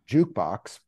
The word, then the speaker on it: JKBX: to go to to the website so we pronounce it jukebox but it's spelled j kbx so think like